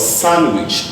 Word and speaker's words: sandwich: This is called sandwich. The D is silent.